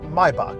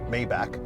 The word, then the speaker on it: Maybach: Oui, ça se prononce My-buck, pas May-back.